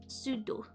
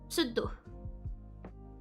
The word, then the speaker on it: pseudo: in French I know in English you'd pronounce it so I'm gonna put e n you'd pronounce it sudo but in France in France you have to be very careful we do pronounce the p in this uh here let me actually read it first sudo so the p is important you have to you have to um you have to pronounce it is a contraction of